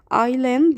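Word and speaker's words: island: ايلاند يعني جزيرة والاس سايلنت ما بتتنطقش.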